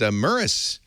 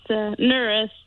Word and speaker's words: Nuris: It's Nuris. Okay. Nuris, or with an N or with an M? With an N as in Nick.